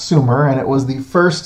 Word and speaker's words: Sumer: look at ancient Sumer it is not pronounced summer it is pronounced Sumer and it was the